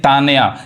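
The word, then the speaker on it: Tanya: तो उसको त पढ़ेंगे जैसे देखिए यहां पे यानी तान्या यानी त पढ़ा रहा है यहां तबरेज त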